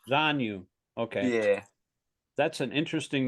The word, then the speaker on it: Zanu: of that particular age so how do you pronounce his name again kanu Z Z zanu okay yeah that's an interesting name did you